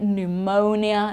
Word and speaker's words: pneumonia: so psychology psychiatrist pseudo and then PN it's just n okay pneumonia pneumatics okay we don't